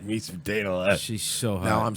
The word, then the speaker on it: Dana Loesch: So you saying that when Dana Loesch said that they love school shootings because of ratings, maybe she might have been right a little bit?